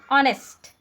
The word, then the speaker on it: honest: Honest. We read it honest but its spelling started with H.